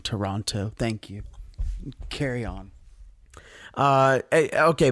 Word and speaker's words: Toronto: I gotta be consistent don't you dare come on this podcast and not pronounce the second T in Toronto thank you carry on